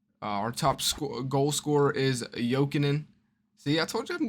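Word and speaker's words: Jokinen: top goal scorer is jokingen see I told you I'm getting better with the names is the J is silent the J's shot joking in that sounds way better than joking uh but I you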